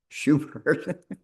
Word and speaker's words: Schubert: Schubert.